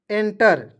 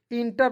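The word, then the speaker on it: enter: ई एन टीई आर तो इसे पढ़ेंगे एंटर ठीक है इंटर नहीं पढ़िए इसे पढ़ेंगे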